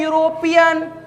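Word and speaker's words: European: pronunciation पर focus करो उच्चारण पर ध्यान दो उच्चारण पर जैसे ही ध्यान दीजिएगा इसको पढ़ते हैं यूरोपियन यूरोपियन पढ़ते हैं हमारा ई जबक अल्फाबेट में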